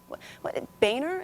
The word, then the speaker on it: Boehner: I mean, this guy, Boehner is how we say his name. We've all agreed to that. Not pronounced the other way.